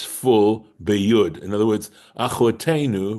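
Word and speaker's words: אחותנו: Either way, it's still pronounced achotenu, right? Even though achotenu without the yud is our sister, and achotenu with the yud's pronounced exactly the same way, as far as I know, right?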